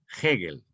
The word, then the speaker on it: Hegel: Hegel, que se escribe con H, E, G, R, L, Hegel.